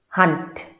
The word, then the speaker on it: hand: Hunt. So the word for hand in Africans has to sound a lot like the English word hunt.